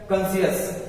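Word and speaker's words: conscious: पहले क्या दिया है यस यानी कि सी साइलेंट है ये क्या लि है कॉन्शियस कॉन्शियस का मतलब क्या होता है सचेत कॉन्शियस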